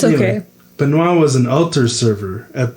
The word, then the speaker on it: Benoit: Yep, it's Benoit. Benoit. Okay, I should probably learn a little bit of introductory French before this, but it's too late now. It's okay. Benoit was an altar server at their church in